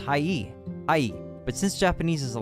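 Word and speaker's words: はい: sounds like e the word hi is actually pronounced Hai but since Japanese is a language spoken at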